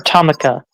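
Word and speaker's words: Tomica: Is it And it was, Tomika or Tomika? I think either way is okay, but most people call it Tomika World because Yeah, it was that's how it's usually pronounced.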